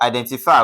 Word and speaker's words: identify: So, for identify, we have I den ti and then we have fy. We have one, two, three. So, D E N will be stressed according to the rule.